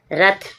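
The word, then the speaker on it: wrath: प्रकार आप और देखोगे रथ रथ मींस गुस्सा डब्ल्यू आर ए टी एच रथ रथ means गुस्सा डब्ल्यू के बाद आर आएगा डब्ल्यू साइलेंट होगा आंसर आंसर मींस उत्तर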